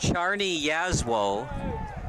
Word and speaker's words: Czarni Jaslo: stars would be for zarni jaslow I would go that route when you win 3-1 I think you deserve all three and according to recruit links it's pronounced Charney yaswell would be my number